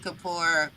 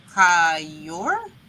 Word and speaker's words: Kaur: I've never seen Rupi Kapoor. Rupi Kaur? Is that how you say her name? Core. It's core.